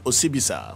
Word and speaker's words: Osibisa: is Teddy Osei of Osibisa. Yeah. All right. Is this the right way to pronounce it? Osibisa. Well, that's the rhythm, you know. But if you want to pronounce it, it's Osibisa.